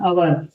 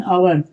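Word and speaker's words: hour: यहां पर एन आवर यहां पर देखने के लिए एच है लेकिन एच तुम्हारा साइलेंट होता है। यहां से स्टार्ट होता है। बोलना आपका यहां से स्टार्ट होगा। एन आवर तो इसको जब आवर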